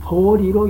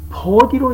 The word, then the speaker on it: 菩提: 이와 같이 한국에서는 디귿이 리을로 읽힐 수 있기 때문에 보디라는 발음이 보리로 읽힐 수 있다라는 것을 설명하고자 합니다. 보제는 마땅히 보디로 읽어야 합니다.